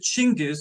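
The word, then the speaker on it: Chinggis: I'll will pronounce it chingis because that's the way the Mongolians pronounce it and his nomadic hordes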